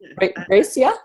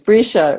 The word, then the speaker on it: Brisha: I think I see Gracia. Did I say it right? Risha. I said it wrong. My apologies. Brisha waving her hand.